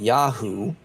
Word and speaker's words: Yahu: They pronounced it Yahu in that particular dialect.